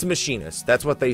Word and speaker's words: Machinist: assuming fits in with the lore is machinist pronounced machinist or machinist I used to call it machinist but it is machinist so yeah uh the former sounds like they